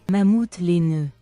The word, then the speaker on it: mammouth laineux: But if you were saying woolly mammoth in French, you would say it like this: Mammouth laineux.